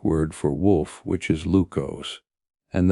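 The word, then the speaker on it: λύκος: The name Lucan comes from the Greek word for wolf, which is lukos, and that sounds even closer to Lucas. Only the ancient Greek pronunciation, though.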